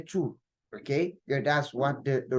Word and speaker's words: tous: But for it to be an adjective, then we'll not pronounce the S. We'll just say two, okay?